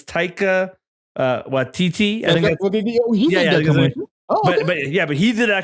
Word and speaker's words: Taika Waititi: I wrote his name because I never pronounce it right, but I think it's Taika Waititi.